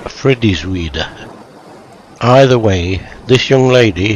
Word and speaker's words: Frideswide: I have taken a survey of the inhabitants of Oxford of varying social classes, and they all pronounced it Frideswide. A similar survey of graduates of Oxford returned the same answer. Doesn't sound right to me, and I will stick to my own version of Frideswide.